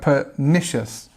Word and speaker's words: pernicious: this answer here and if you look at the pronunciation we have pernicious there's where the stress go and although it's it's quite a long word it's actually quite a short pronunciation so you can say it quite easily what does it mean